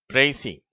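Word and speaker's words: précis: எப்படி உச்சரிக்க வேண்டும் பிரைசி பிரைசி என்று உச்சரிக்க வேண்டும் அதாவது பெரிய பத்தியை நம்ம சுருக்கமா எழுதுறது பெரிய கட்டுரையை அதனுடைய சுருக்கத்தை தருவது அதுக்கு பேர்தான் பிரைசி ஓகேவா கடைசியில வர அந்த எஸ்க்கு உச்சரிப்பு கிடையாது அடுத்தது ஏ என்ற எழுத்து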